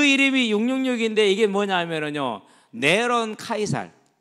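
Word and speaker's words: נרון קסר: 그러면서 그 이름이 666인데 이게 뭐냐면요, 네론 카이살. 그러니까 네로를 히브리식으로 말할 때 그렇게 발음이 됩니다.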